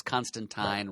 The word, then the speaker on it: Constantine: Alan Moore went out of his way to tell us that it's Constantine, rhymes with sign.